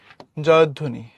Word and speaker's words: জয়ধ্বনি: ঠিক আছে, জয়ধ্বনি। দনিচ হসন্ত আছে আর ধো হবে।